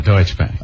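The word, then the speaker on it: Deutsche Bank: another company I'm going to screw up the pronunciation deoe and TSH deuts deutche Bank deut bank ah there you go deuts Bank um there's a number here it's a local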